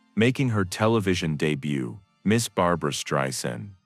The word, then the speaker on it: Streisand: Ladies and gentlemen, making her television debut, Miss Barbara Stryen. He pronounced her name correctly.